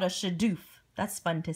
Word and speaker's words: shadoof: And then they used this cool gadget here called a shadoof. That's fun to say. Shadoof, right? In your textbook, it's spelled S-H-A-D-O-O-F.